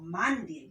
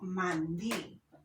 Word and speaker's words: mandil: en la última sílaba como por ejemplo mandil yo no digo mal día sino mandil pero lugar las tres